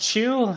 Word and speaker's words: Qui: Last name is pronounced Chew. I guess the closest thing we can say is like Pikachu, the Pokemon. It's kind of like that. So It's like a CH sound.